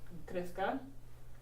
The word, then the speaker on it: crezca: So in order to preserve the hard C sound, or the soft C sound, you have to change the spelling. So for this, for example, crezco becomes crezca, otherwise it would be creca.